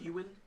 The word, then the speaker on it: Ewan: But spelled like the Celtic spelling, like but- Ewan.